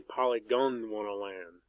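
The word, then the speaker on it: Polygondwanaland: don't want to land I guess that's how you pronounce it I always call it poly gonna one I'm like gonna poly gonna want to land but it's really polygonal land and this album King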